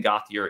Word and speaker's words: Gauthier: about John uh Landon gothier in State uh gothier I think is the pronunciation in State linebacker um